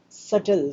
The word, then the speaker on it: subtle: saturn saturn be silent the letter b is silent in this word next distinctly distinctly means